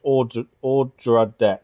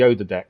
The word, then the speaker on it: Odradek: The O is pronounced Odradek. Yeah, I'm going to keep getting it wrong. I've always called it the Ododek.